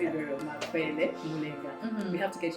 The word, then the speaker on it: Makwele: So my guest name is Makwele Mulenga, and I hope I pronounced Makwele right, because I feel like I'm pronouncing it like that's actually very okay. You said it very well, Makwele Mulenga.